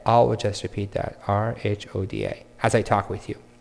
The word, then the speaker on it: Rhoda: So if I see Rhoda, I say it's not Rhonda, is it? And you say, no, there's no N. It's Rhoda. R-H-O-D-A. And in my head, I will just repeat that, R-H-O-D-A, as I talk with you.